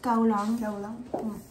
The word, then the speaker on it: Kowloon: Et le dernier, du coup, c'est Kowloon. Et ça se prononce Kaolang.